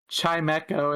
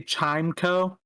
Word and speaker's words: Chimecho: like I keep thinking of how there's Chimchar, and then if you say chime, you lose the E, so shouldn't it be Chimeco?